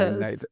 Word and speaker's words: NatHERS: I never quite know how to pronounce that, but I think it's called, No, me neither. yeah, you say Natters. NATHERS.